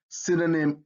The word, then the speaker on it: synonym: if you see it in words derived from greek y usually makes the short i sound that's a if you know your phonics right so you have epinim synergy in synonym in that y has an i sound all right let's take